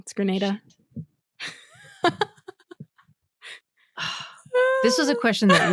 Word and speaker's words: Grenada: always get it wrong Granada got it wrong it's Grenada this was a question